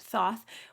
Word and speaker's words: Thoth: It's just come to me now that Crowley's deck, the Tote deck, or some people would pronounce it Thoth, was painted by Lady Frida Harris.